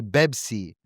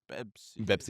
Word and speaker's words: Pepsi: They don't say, and they don't use the P sound, so they say Bebsi. Pepsi.